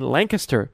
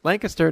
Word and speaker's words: Lancaster: for instance when in Lancaster Pennsylvania I said it right Lancaster not Lancaster Pennsylvania about an hour train